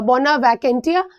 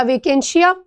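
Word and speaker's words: bona vacantia: बोना वैकेंटिया या वेकेंशिया, जो भी आप प्रोनाउंस करो उसको।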